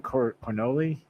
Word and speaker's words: Cornolle: Cornolle.